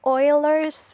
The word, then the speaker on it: Euler: I'm sorry, I pronounced it wrong. It should be Euler's number or Napier's constant.